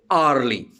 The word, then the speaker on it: hourly: For example, if I say hourly or hourly, hourly, again H is silent.